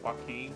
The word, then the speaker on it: Joaquin: I just have a co-worker at my workplace named Joaquin. And it's like spelled like that, like with the Q-U-I-N. But it's just with a W-A.